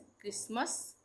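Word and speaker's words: Christmas: इसी तरह से क्रिसमस यहां पे टी है पर उसका उच्चारण नहीं होगा।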